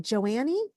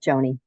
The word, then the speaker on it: Joni: Is it Joannie? I completed my happiness trainer certification. I love that. I apologize if I butchered your name. It's just Joni.